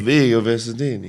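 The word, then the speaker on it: Vigo Visentini: And Vigo Vincentini, is that how we pronounce his name? You got to put more of a accent. Well, no, I'm actually pronouncing his name correctly. Vigo Vincentini.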